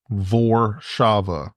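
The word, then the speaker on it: Warszawa: they were like oh we need to start pronouncing it the way like Warsaw is vaba oh makes sense VOR Shava vava and if it was VAV they'd be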